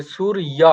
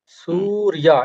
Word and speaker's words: সূর্য: হ্যাঁ, অকারান্তর মতো করে সুরিয়া, হুম, সুরিয়া। এখানে দন্তস্বয়ে কিন্তু দীর্ঘ উকার রয়েছে। তো এখানে এইটা হুম, স্বরটা দীর্ঘ হবে, ঠিক আছে।